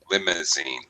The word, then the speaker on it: limousine: And a little bit pronunciation of limousine. Limousine. Limousine. First syllable stress.